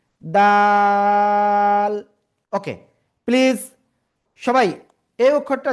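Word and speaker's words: دال: খেয়াল করবেন সবাই, এই যে দাল, তিন আলিফ টান, এক দুই তিন আলিফ, দাল।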